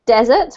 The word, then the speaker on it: deserts: a couple more times I believe you pronounced it deserts which is correct and I'm just going to put the other confusing word in the chat box which is desert that's the thing that you eat after your main meal just